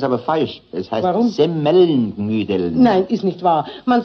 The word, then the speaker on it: Semmelknödeln: Richtig muss es eigentlich heißen, Semmelknödeln. Die Semmel muss man dabei betonen, weil doch die Knödel aus Semmel gemacht sind.